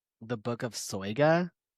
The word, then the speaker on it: Soyga: The book of Soya. Yep. And that is the pronunciation.